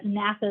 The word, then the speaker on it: NASA: the individual letters whereas NASA is an acronym where it's pronounced as an entire word it's a little thing